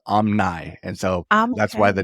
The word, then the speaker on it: Omni: so excited to be here and it's spelled Omni but it's actually pronounced Omni and so that's why the name Omni the